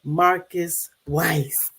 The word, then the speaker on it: Marcus Weiss: I'll say everybody welcome welcome my guest Mr Marcus Weiss did I say your name wrong no you said it perfectly oh wonderful